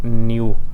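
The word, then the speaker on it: ν: इसको ये Greek letter है, इसको हम ऐसे लिखते हैं, इसको न्यू ऐसे इसको रीड आउट करते हैं, ये उसकी इंग्लिश प्रोनाउंसिएशन है।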